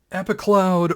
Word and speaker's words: Epicloud: giving it a c epicloud or epic loud I've heard it pronounced both ways both work probably the most standout